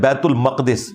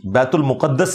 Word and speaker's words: بیت المقدس: यह भी कहा कि ये मक़दिस लफ्ज़ है, मुक़द्दस नहीं है। ये लफ्ज़ है बैतुल मक़दिस, बैतुल मुक़द्दस लफ्ज़ नहीं है, बैतुल मक़दिस इसकी ट्रू प्रोनाउंसिएशन है।